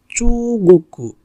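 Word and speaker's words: 中国: Chu, goku. So here is not koku. So chu, goku.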